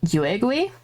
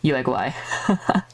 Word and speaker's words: Yuegui: time calling her or calling it Yuegui, which is wrong. It's a Yuegui.